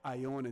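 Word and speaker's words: Ionie: And it's pronounced Ione. The E is not silent.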